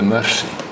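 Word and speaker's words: Mursi: And in this area, not far from where the Hammer people live, you have the Mercy. Now the Mercy give no mercy, although their name is spelled M-U-R-S-I.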